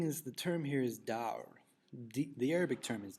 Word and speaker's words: dawr: And what's interesting is the term here is dawr. The Arabic term is dawr. Typically in English we would spell it D-A-W-R.